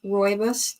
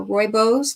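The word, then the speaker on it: rooibos: well as a chai royos tea or royos depending on how you pronounce it but for your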